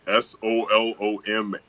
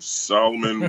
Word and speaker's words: Soloman: my name is spelt s-o-l-o-m-a-n i'm solomon with an a solo man my mom knew something